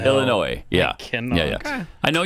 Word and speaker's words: Illinois: I I yes, and I'm honestly telling you we do not pronounce the S in Illinois. Illinois. Illinois, yeah.